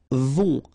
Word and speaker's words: vont: Then, ils vont. Final T not pronounced, and then on together, on vont.